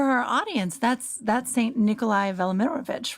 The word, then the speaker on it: Velimirovich: And for our audience, that's Saint Nikolai Velimirovich, right? How do you pronounce his name?